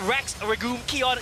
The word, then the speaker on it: Rex Regum Qeon: times as fun and that's our iq that's rex ragoon keon yes i've learned how to pronounce their name and they make it work